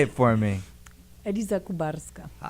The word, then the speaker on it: Eliza Kubarska: Did I pronounce that right? Say it for me. Eliza Kubarska. Eliza Kubarska.